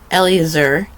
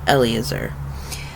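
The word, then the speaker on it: Elazar: So, Elliot, Eleazar, making sure I have the right number of syllables. There's no a in it, so it's Elazer.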